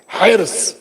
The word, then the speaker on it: حرص: ہم لوگوں کے دیہاتوں میں بولتے ہیں گاؤں میں ہرس، لکھنؤ وغیرہ میں بولتے ہیں ہرس، لیکن صحیح تلفظ کیا ہے؟ ہرس.